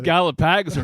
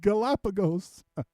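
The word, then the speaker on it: Galápagos: These Gallopags are huge. Imagine you say that to the locals and it's just like torture for their ears. No, you gringo. You're saying it wrong. It's Galapagos.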